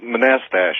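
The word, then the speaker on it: Manastash: How do you pronounce the name of your town? Manastache. Oh. Oh, Manastach. Manastach. That's right. Thank you.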